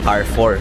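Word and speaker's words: Carrefour: shoes pupunta kami ng car 4 n lalakad pa kami malapit na kami anang spelling niya c a r r e pero ang bigkas nila car 4 Dito na kami car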